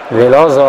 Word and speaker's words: Veloso: quindi ancora Gakpe, Rincon, Veloso, la pronuncia diciamo in portoghese Veloso, la S molto marcata, Pavoletti, Ocampos, Ocampos lascia